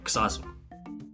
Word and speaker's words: Xazu: So Kazu or Kazu. Oh, so that's Dutch as well. The X is like a KS instead of a Z sound.